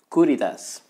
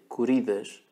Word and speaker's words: Curidas: Platinum Caritas in Portuguese my my tongue wants to say courage because that's the way we pronounce things but I think it's strange and all the mentions I saw were Caritas so let's go for it this is a pen